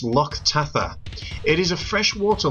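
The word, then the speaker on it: Loch Tatha: so welcome to lotte which in the scottish gaelic is pronounced lok tatha it is a fresh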